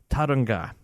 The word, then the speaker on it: Tauranga: Apparently, I have been absolutely pronouncing that name wrong. Tauranga. There you go.